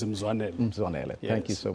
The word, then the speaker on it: Mzwanele: Zwanele, not Mwanyele, like they had it on our script. No, right? I've got it right, but pronunciation is Mzwanele.